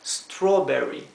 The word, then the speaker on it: strawberry: inglés siempre o bien Esto se pronuncia o como la o del español por eso esto se pronuncia strawberry melón se pronuncia melon